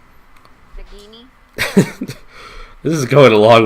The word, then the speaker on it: Nagini: So hard G. It's okay. It's okay, puppy. It's okay. G. Nagini.